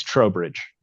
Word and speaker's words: Trowbridge: Is it Trowbridge or Trowbridge? It's Trowbridge. Trowbridge.